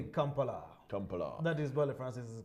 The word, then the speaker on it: Kampala: And all of them don't say Kampala, they say Kampala.